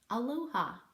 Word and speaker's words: Aloha: fill in the blank it's an A and an L and an old H and an A to be pronounced Aloha take your time to